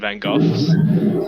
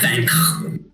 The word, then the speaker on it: Van Gogh: But and as the Doctor is like and Amy are walking back to Vincent van Gogh's sort of house or bungalow, it's a house.